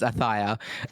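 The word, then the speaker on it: Ayutthaya: How do you pronounce that one, Jif? Ayuthia? Ayuthia? Yeah. We're going to work for production. It's Athia.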